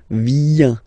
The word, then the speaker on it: viens: Remember this I, viens, viens, and then this nasal, final S not pronounced.